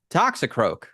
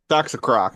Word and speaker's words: Toxicroak: This week we have a type evolution, Toxicroak. Toxicroc.